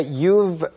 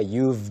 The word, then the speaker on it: You've: Yeah, kind of like a soft F.